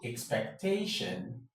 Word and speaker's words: expectation: So all the other words that end in ION will take the stress on the penultimate syllable.